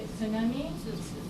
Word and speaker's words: tsunami: hard times say tsunami English speakers why because in English you never say sound at the beginning of wordss but you do say when you say cat cat so if you have hard time pronouncing sound at the beginning of the word think about cats but don't say cat begin with there no so is tsunami tsunam it's spelled